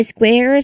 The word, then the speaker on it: square: throat, K, and then immediately rounding your lips for the W. This is a very consistent um thing in English words spelled with sq. Other words include square and squid. Try square.